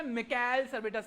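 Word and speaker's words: Michael Servetus: इनका नाम है माइकल सर्वेटस। क्या नाम है इनका? या कई जगह प्रोनाउंसिएशन में मिकाएल सर्वेटस भी बोल देते हैं, अपना अपना प्रोनाउंसिएशन है, हम भारतीय हैं तो हम तो माइकेल बोलेंगे।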